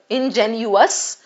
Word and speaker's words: ingenuous: Ingenuous can be gullible. First correct the pronunciation between the two, right? Ingenious comes here and ingenuous goes here.